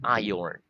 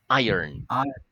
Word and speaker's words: iron: iron very good okay you pronounce it with a Y iron iron like that iron like Iron Man right okay very good